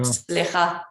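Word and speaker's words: סליחה: Slicha.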